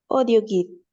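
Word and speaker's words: audioguide: audio guide, Digo así, audio guide, si justamente tenemos que la AU suena O. audio guide, Bien, audio guide, très bien.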